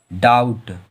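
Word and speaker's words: doubt: जब भी बी टी के पहले आता है तो हम लोगों का बी साइलेंट होता है। इसे क्या पढ़ेंगे, डाउट।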